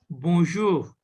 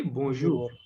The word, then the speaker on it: bonjour: me both of you bonjour bonjour okay bonjour this N is a nasal sound here it is not pronounced bonjour bonjour okay bonjour